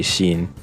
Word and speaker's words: Shin: Oh well, I guess his name wouldn't be pronounced Sin in Japanese. It'd be Shin.